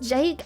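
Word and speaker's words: JVKE: It's pronounced Jake.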